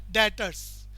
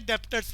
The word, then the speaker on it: debtors: Spelling देख लें, DEBTORS, डेटर्स। B silent है इसमें, प्रोनाउंसिएशन क्या होती है? डेटर्स। स्पेलिंग क्या लिखी हुई है? डेप्टर्स वाली।